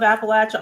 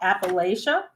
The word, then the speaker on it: Appalachia: go you're right so have you heard of Appalachia also called Appalachia and I admit I will depending on which region I am at in this map my changing of the word pronunciation does change but if you live in the region you're going to call it Appalachia if you typically leave